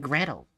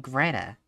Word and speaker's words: Gretel: I think they're mispronouncing Gretel. They're saying Greta.